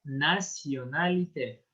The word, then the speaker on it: nationalité: Esta, celui-ci, on va la prononcer nationalité.